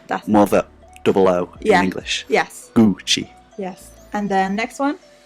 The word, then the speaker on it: Gucci: and that's very similar it's just the U is just more like pure sound like Rawdon gucci is Gucci Gucci yeah that mother double-o anglish yes Gucci yes and then next